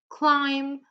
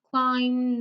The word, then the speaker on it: climb: So I'll just give you a few more seconds to tell me which letter is silent in each of the words, okay?